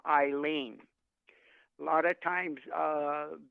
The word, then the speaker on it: Eileen: the uh the name Eileen is spelled e-i-l-e-e-n but that is silent the first sounding letter is a I so the E is silent you don't count it same same thing with